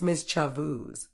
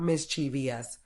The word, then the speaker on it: mischievous: so it's Island mischievous it's mischo not mischievous Colonel this one's weird